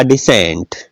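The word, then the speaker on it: descent: fascinate सी साइलेंट है इसमें देखिएगा डिसेंट एस और ई का ही उच्चारण है ई से पहले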